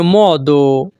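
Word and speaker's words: modo: উপায় নেই, নন চে মদো। এখানে ও এর উচ্চারণ হবে মহ।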